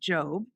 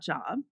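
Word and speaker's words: Jobb: king's college in halifax his last name is pronounced job not job he has a monthly column in ellery queen's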